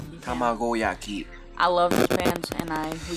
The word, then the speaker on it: Tamagoyaki: Tamagoyaki. Tamagoyaki.